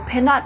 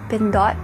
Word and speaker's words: Pindot: and fun fact I'm from the Philippines so pen not press is actually supposed to be pronounced been dot press and fin dot is actually the Filipino